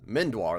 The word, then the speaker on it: Mindoir: Mindoir, that's how you say it.